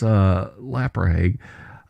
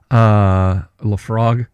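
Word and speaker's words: Laphroaig: glass of Glenfiddich, or perhaps that's Laprahague, Lafrogue, I think you pronounce it.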